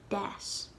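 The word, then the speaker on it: d'fhás: So we'd pronounce the D like D, das.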